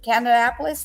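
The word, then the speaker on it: Kannapolis: Friday at the hotel on on cover Leaf's Parkway in canap Canapolis is how you say it according to the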